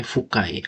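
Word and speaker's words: 深い: Cara bacanya fukai, artinya itu dalam.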